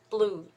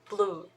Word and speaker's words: blue: here so you know it's not BL you don't want to put extra vowel in here but pronounce it blue blue B and L together